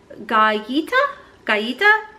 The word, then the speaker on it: Galleta: It is the $45 retail value, and it's pronounced galleta. It's a Spanish word for cookie.